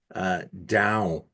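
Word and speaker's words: Dão: I want to point out too how you're pronouncing this appellation down. Mm, mm. It's like going down the stairs or a Yeah.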